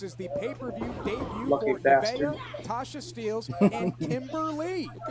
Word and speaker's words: Nevaeh: Nevaeh, that's how you say her name.